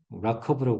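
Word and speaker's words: RWKV: 어 다음에는 이제 그 아까전에 RWKB라고 하는 라커브라고 보통 여기 발음을 하라고 저자들이 있는데 그거 하고 타이탄스를 이제 보게 될 건데 거기까지 보면 이제 타이탄스는 어 스테이트 스페이스 모델이 아니고요.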